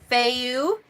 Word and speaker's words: Fehu: It is the F sound. Fehu.